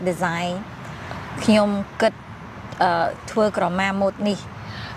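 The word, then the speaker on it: ខ្ញុំ: to say it in Khmer, Knyom, say like Knyom, it's mean I, right? Knyom. Like good, it's thinking, right? Good, Twơ Krama ni, mode ni, or you can say mode ni is like design. Knyom good, Twơ Krama mode ni.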